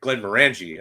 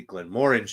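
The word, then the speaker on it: Glenmorangie: lot of times it's like a which syllable to to stress you know so like in the US we we say arbg or Glenn Mori um sorry Glenn marangi I I gotta like unlearn um you know Glenn marangi things like that but it's you know in Scotland it would be Glenn Mori or Ard beg it's like kind of a stressing the second syllable right yeah anyway sounds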